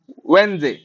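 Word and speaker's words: Wednesday: को अछि जेड जो जगह थिबो सेटा आंसर वेनडे वेनडे कोच वेनडे हला वेनडे वेनडे तो सब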